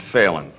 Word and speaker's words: Phelan: We'd now pronounce it Phelan.